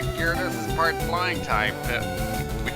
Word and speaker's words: Gyarados: Now, looking at the spelling, you'd think it's pronounced like Gyaradus or whatever, but it's pronounced Gyarados.